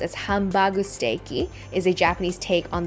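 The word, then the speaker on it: ハンバーグステーキ: got Hamburg steak Hamburg steak which is usually pronounced as hambu steaky is a Japanese take on the Salisbury steak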